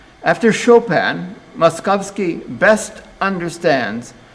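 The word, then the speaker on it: Moszkowski: most successful in germany muskowski i better spell that to you for mos z kows moskowski now the the much more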